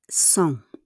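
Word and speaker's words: cent: So we have 100 song. How we pronounce it? Song. Song. It's like an song.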